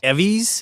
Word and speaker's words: EVVYs: EVVYs? Yeah. That's how you say it. It's All like right. the- it's like the Yeah. Emmys.